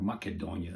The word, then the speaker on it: Macedonia: It was in Macedonia, or Macedonia, as it's properly pronounced in the Macedonian language.